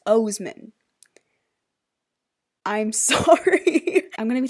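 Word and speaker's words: Oseman: is I Was Born for This by Alice Osman. I just realized, after I filmed this, just now, that I've been pronouncing their last name wrong. It's Osman.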